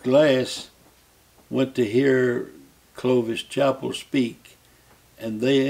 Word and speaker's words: Chappell: went to hear clovis chapel speak and they introduced him as chapel not chappelle so i tried to